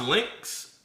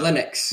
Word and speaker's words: Linux: So, is it is it is it pronounced Lynx? Uh Linux.